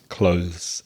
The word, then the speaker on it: clothes: But really, the correct way to pronounce it is clothes, as Reza very expertly demonstrated.